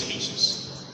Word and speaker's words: ASUS: Actually, the right pronunciation is ASUS.